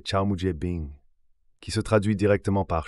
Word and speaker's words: 草木皆兵: Ce sentiment, mes amis, encapsule l'essence de l'idiome chinois, prononcé Chao Mujie Bing, qui se traduit directement par chaque buisson et arbre twoth ressemble à un ennemi.